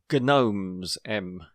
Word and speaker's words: gnomes: And I know those blanks were gnomes, We were talking about... Were we talking about silent letters?